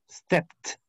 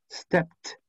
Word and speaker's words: stepped: Por lo tanto, su ED se pronuncia como una T igual. Stepped. Stepped.